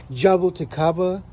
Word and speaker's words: jabuticaba: We have lemon seedling, cherimoya seedlings, jabuticaba, Brazilian grape. I think that's how you pronounce it.